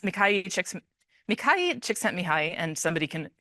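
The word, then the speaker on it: Mihaly Csikszentmihalyi: There's a lot of stuff about this guy's name is pronounced Mikhail Csikszentmihalyi, and somebody can correct me on that.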